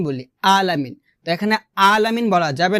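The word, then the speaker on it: ٱلْعَٰلَمِينَ: আলামিন এখানে অর্থাৎ আইন খারাজ এখানে আমরা হামজা উচ্চারণ করি বলি রব্বিল আলামিন বলি আলামিন এখানে আলামিন বলা যাবে না বলতে হবে এভাবে মানে আইনটাকে গলার মধ্যখ খান থেকে চাপ দিয়ে আপনাকে উচ্চারণ করতে হবে।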